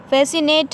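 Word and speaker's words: fascinate: फैसिनेट है तो एस की आवाज़ आनी है, सी की नहीं, हाँ।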